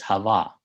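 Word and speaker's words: חוה: But in Hebrew the name is Hava.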